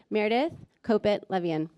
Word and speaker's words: Meredith Kopit Levien: the stage New York Times president and CEO Meredith Copit Levian. All right. Thank you so much for being here. Props for pronouncing my name right.